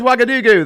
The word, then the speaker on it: Ouagadougou: There's Ouagadougou. The capital is spelled with an O, not a W. Because, French. That's Ouagadougou.